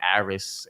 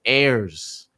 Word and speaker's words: Ayers: That's AIRS, Air with a S for those who don't pronounce it right. Some people say Aris, Aries. It is Ayers.